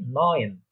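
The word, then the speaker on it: neun: তারপর হচ্ছে 9 বা 9 যেটা বলে থাকি আমরা বাংলাতে, সেটাকে জার্মান বা ডয়েচরা বলে থাকে নয়েন, নয়েন, নয়েন, অনেকটা মিল আছে 9 নয়েন।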